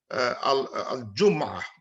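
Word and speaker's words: الجمعة: লেখা আছে জুমআ কিন্তু there is another pronunciation where mim gets sukun al jum'ah মানে মিমে সুকুন পড়ে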